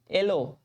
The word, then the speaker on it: yellow: येलो, येलो, एलो, तो येलो नहीं पढ़ेंगे, एलो पढ़ेंगे, एलो, YELLOW, येलो नहीं पढ़ेंगे, एलो।